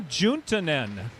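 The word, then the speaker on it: Juntunen: the senior uh yuna juntanen i've got to pronounce one jay hart and one j soft to get his name right from a town in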